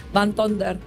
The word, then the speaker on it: Van Tonder: Van Tonder.